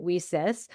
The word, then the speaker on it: WiCyS: So women in cyber security we often go by our acronym WICS and we pronounce it whis we were started actually